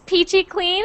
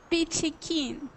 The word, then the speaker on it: peachy keen: King how about you is Peachy clean is that what you said no peachy keen what's peachy kin I